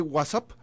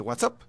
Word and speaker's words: WhatsApp: Y se lo sacó Marta González de La Calma, la que nos mandó el recado de no se dice WhatsApp, se dice WhatsApp.